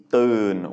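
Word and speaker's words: ตื่น: Our next word is Durn, which means to wake up. That is to tao sala no nu, and it's a mid-tone because it is a mid-class consonant and a live syllable with that sonorant final.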